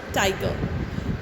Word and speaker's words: Tyger: poem, if we see the title is pronounced tiger, but the spelling is different, as it is spelled as Tyger instead of Tiger.